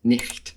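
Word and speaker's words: niht: in other Germanic languages, we can conclude that in Old English, night was pronounced nicht.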